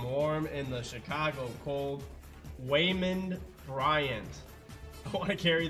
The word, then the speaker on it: Waymond: It kind of sounds like a kid is trying to say Raymond. Waymond Bryant.